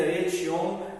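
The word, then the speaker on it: Ecce Homo: A obra Et Homo, que se escreve esse homo com 2 Cs, se pronuncia Et Homo, é um apanhado geral de todas as outras obras do Nietzsche.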